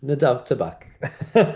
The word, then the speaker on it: Nadav Tabak: My name is Nadav Tabak.